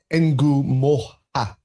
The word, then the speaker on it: Ngumoha: so So it's Ngumoha.